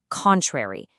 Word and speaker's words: contrary: When we use it as an adjective to describe something, we put the stress on the first syllable, contrary.